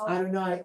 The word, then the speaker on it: Adonai: the but you got different vowels so it's pronounced Adonai that's it's pronounced Elohim but you can write